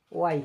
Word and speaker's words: why: এবার আসুন ওয়াই থেকে দেখি আমরা কেন। তো এটির সঠিক উচ্চারণ হচ্ছে ওয়াই। আমরা কিন্তু অনেকে হয় বলি, আসলে এটি হচ্ছে ওয়াই।